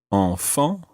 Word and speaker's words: enfants: And the word for child in general is enfant. Enfant. Enfant. Enfant. That's a good word for practicing your nasal sounds. Enfant. Enfant. And the plural of this, the word for children, sounds exactly the same,